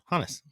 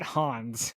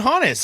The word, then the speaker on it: Hannes: Okay, I have the pronunciation game. Okay. Hannes. Yeah, I said it. That's how I've been saying it. Hannes. So not Hans. I've been saying Hannes.